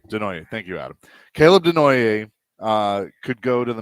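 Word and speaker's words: Desnoyers: Caleb Denoier uh could go to the Mammoth at four.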